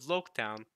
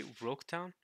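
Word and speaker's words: Loguetown: Wait, did you say Roketown? Okay, it's spelled with an R here, but I'm typically used to the spelling where it says Loketown, like with an L. But in Japanese, L's and R's, y'all know how that goes, right?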